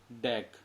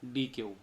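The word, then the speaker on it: deque: इट is pronounced as डैक। इसका उच्चारण हम कैसे कर सकते हैं? डैक। इसको हम डैक भी बोलते हैं और या डी क्यू।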